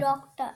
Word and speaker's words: doctor: Doctor. The R डॉक्टर, आखिर में R vibration नहीं silent. करनी, R silent.